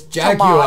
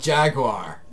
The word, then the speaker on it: Jaguar: But you don't pronounce the U. There's Jaguar. No, there's no W. But the U-A is a W.